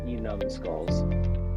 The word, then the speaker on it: Enum Skulls: You can pronounce it Enum Skulls. Enum Skulls, awesome. Yeah. It's a town of mine. The town's not called Enum Skulls, but the beginning of it is Enum Claw.